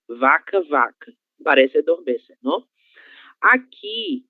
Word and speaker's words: vaca: O som da letra V, que vocês já viram que é totalmente diferente do som da língua espanhola. Então é V, vaca, vaca, vaca.